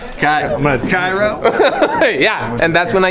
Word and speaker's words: Kyrö: First of all, Dallas, how do you say Gura? Kudos. No, Cairo.